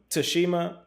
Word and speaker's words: Tsushima: Like, the T is definitely silent. It is definitely Tsushima. No, Tsushima, Tsushima, Tsunami, Tsunami.